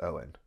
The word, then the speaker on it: Owen: And if you're reading that name, it is pronounced Owen.